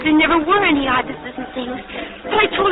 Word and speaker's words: ibis: It's I-B-I-S. Ibis.